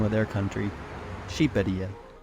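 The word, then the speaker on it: Shqipëria: Well, you never guess, but Albanians pronounce the name of their country Shqiperia. Shqiperia. What? It's not even close to Albania. Doesn't even start with an A. And the Q is apparently silent.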